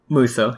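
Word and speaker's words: Musou: How do you pronounce it? Muso? Muso, yeah.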